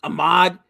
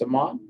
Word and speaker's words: Samad: Come on, Ahmad. Earn your place on this lineup. Actually, it's Samad. Samad, excuse me.